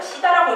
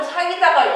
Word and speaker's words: SIDA: 공식 표기를 쓰다 보니까 사람들이 자꾸 시다라고 읽는 거예요. 그래가지고 제가 이거 시다가 아니라 사이다다라고 좀 직관적으로 인지를 시켜주기 위해서 디자이너한테도 좀 그 요청을 넣을 때 제발 좀 사이다가 연상되게 좀 청량하게 좀